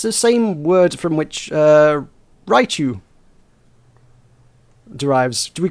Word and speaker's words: Raichu: How the hell do you pronounce Raichu? It's Raichu. It's Raichu, thank you.